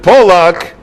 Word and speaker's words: Polak: So the question is, how do you pronounce in Hebrew that name? Many of them, the Germans pronounced it Falk or Falk, because nobody in Germany wanted to be called Polak. But in Poland, they pronounced it Polak because they wanted it that they should be identified as being Polish.